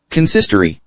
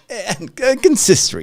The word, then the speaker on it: consistory: How do I pronounce this? Consistory. There you go. I said it right. I knew it. Consistory.